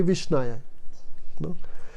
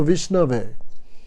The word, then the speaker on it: Vishnu: the flower to vishnu they say visnaya and a learned person says no vishnu no but krishna accepts